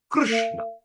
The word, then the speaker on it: Krishna: that's the real pronunciation Krishna Okay. Krishna. So when we sign how you going to pronounce. So Kirishna. Kiruishna. Kiruishna. So Krishna. So key and R. You just combine the word K and R.